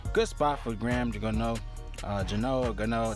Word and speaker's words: Gano: Gano, that's how you pronounce his name, but still a good spot here.